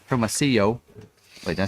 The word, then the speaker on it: Hermosillo: did learn to say Hermosillo. Wait, did I say it right? Hermosillo. Hermosillo. This week. Thank you, Blanca. So it's anyway, two L's, yo, yo baby yo, she told me.